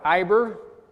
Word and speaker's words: Eber: So from Hebrew we get Eber or Iber, which is be pronounced Eber by most people.